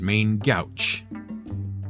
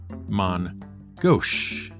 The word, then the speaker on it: main gauche: and often mispronounced as main Gauche, but is more correctly pronounced as man Gauche.